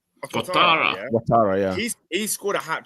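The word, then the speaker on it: Ouattara: First of all, I've forgotten how do you pronounce his name? Dango Watara. Watara, yeah.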